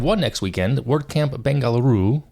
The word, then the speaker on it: Bengaluru: next weekend word Camp bangaluru Bengaluru I think I think that's how you say it it's July 21st one day camp uh it starts at I believe 9:00 a.m.